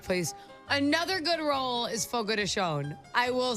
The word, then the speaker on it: Fogo de Chão: Portuguese, it's Brazilian, it's Fogo de Chão. That's how you say that. See, I was saying Fogo de Chão for like ever. No, it's Fogo de Chão. Fun fact, that's how you say it.